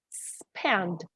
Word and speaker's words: spend: Just remember when we have an S at the end, at the beginning of a word, we don't pronounce like in Spanish, spend. We pronounce spend, just this, okay?